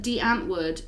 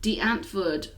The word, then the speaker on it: Die Antwoord: you know we're optimistic so go listen to Die Antwoord Die Antwoord there we go Die Antwoord some people say